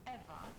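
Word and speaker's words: Ewa: to a likeness machine besides eva is spelled e w a not e v e i thought we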